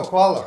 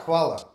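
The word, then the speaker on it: hvala: I know, Kvala. Kvala.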